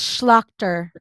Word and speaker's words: Schlachter: now I'm nervous okay it's schlachter laughter okay I am so thrilled to welcome Aya slachter thank you for joining